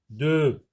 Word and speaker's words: deux: 2, X est une lettre muette.